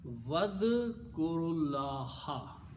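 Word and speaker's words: واذكروا الله: Okay, then when you read them together again, do not pronounce this alif. It becomes Hamzatul Wasl, and pronunciation will be Vadkurullaha.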